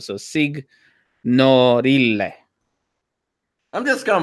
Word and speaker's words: Signorile: Signorelli? It's Italian. Yeah, so you have to pronounce every consonant, or sorry, every vowel separate. Like everything's got to be separate. So signorile.